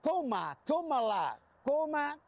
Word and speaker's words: Kamala: y te enseñan y te enseñan a pronunciar el nombre de cala Fíjate en inglés Esto es una coma se dice comaa coma y después la entonces